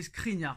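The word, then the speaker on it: Škriniar: prononciation de ce crinière Nono n'arrive pas à mettre le S devant le K donc toujours pas c'est pas crinière c'est screenia mais un jour peut-être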